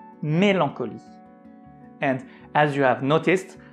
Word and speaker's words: mélancolie: that it's pronounced as mélancolie. Mélancolie. And as you have noticed, we don't pronounce the letter E at the end, la lettre E à la fin.